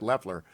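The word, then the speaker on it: Loeffler: sick of hearing about lefleur and i'll eventually pronounce it right i think it's left like a left-handed leftler i hope i'm right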